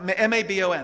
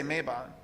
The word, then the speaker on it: Mabon: M a b o n. Right. And it's pronounced mabon, but you can say mayabon.